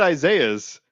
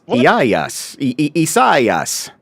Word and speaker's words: Isaias: Isaias? What? See, you were mocking the fact that they had the pronunciations on there, and now look at you. I would have said Isaiah's, but it's it's Isaias.